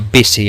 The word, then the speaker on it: busy: En raras ocasiones, como en este ejemplo, una U puede pronunciarse como una I latina, o sea, como el sonido I corto en inglés. Por ejemplo, esta no se dice busy ni busy, sino busy en inglés, que significa ocupado, busy, ¿vale?